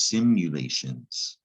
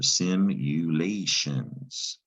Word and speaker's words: simulations: simulations now this is simulations and it comes from the root simulate and the unusual thing about this word is you actually say you when you pronounce that you send you late that's also a